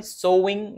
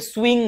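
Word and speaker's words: sewing: তো সেলাই মেশিনকে বলা হয় সোইং মেশিন। সাধারণতকে সুইং লেখা হয়। সুইং। সুইং operator. এরকম পথ থাকে গার্মেন্টসে। কিন্তু আসলে উচ্চারণ সোইং। সোইং মেশিন।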